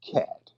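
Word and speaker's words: khat: i want everybody to the drug k-h-a-t all right or something it's pronounced cat it's a drug over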